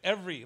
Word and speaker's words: Avery: Because right here in this book, it's spelled with an E. Right. Every. Like every. Every. Yeah. And then and my book is pronounced Avery, like Avery. Right. With an A.